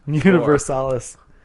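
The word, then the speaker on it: Universalis: tiny brains Europa universales universales this looks like Latin so I'm pronouncing it in Latin okay conquest of paradise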